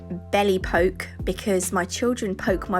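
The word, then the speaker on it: Belle Époque: And then this one, it's pronounced Belle Epoque, but I like to say belly poke because my children poke my belly quite a lot.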